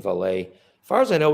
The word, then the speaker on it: Vallée: But Jacques Vallée, and I think maybe a Frenchman would pronounce his name Vallée.